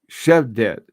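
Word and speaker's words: Xhevdet: Hey, Ed, XH you pronounce sh. Okay. Shedek? Shevdet.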